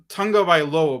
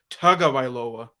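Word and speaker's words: Tagovailoa: say his last name I I say I pronounce it Tunga by low but a pronoun apparently it's pronounced tug of iloa um Okay so the I would say um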